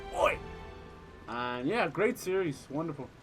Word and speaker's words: Oy: dog named oi but it's spelled o y so it's like oi and yeah great series